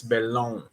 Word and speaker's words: Bellon: what's this guy's name Roger belone bellone it's spelled Bellin but the dude's French so it's belong uh this guy he